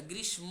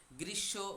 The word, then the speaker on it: গ্রীষ্ম: ও বসন্ত গ্রীষ্ম বর্ষা গ্রীসম বলবেন না গ্রীশব ঠিক আছে তাহলে গ্রীশব হবে উচ্চারণটা গ্রীশব বর্ষা শরত হেমন্ত শীত